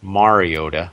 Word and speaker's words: Mariota: I'm looking at this game, and I'm so excited for Mariota. That's how he likes to pronounce it. That's apparently the professional way.